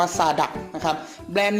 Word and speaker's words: Zadak: ครับ ยี่ห้อ ซาน ดัด แซด adha น้อง อ่าน ว่า ซา ดะ นะ ครับ แบรนด์ นี้